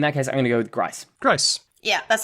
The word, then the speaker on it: Grice: Because I've only ever heard Grice. Has anyone ever done Gris? Yeah, Gris or Gris or whatever it is. All right, so how do we settle this? Gris would be the French pronunciation, right?